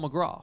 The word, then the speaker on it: McGrath: It's pronounced Paul McGraw.